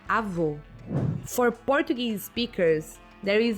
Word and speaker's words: avô: For example, in Portuguese, to say grandmother, we say avó, and to say grandfather, we say avô. For Portuguese speakers, there is a huge difference between these two words, avô and avó.